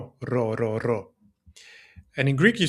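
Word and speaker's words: ρο: In Greek, we have to pull the tongue forward. So, you have to say r row.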